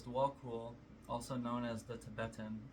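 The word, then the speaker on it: Djwhal Khul: Dwal Cool. Okay, that's how you say it. So it says Dwal Cool, also known as the Tibetan, is a Tibetan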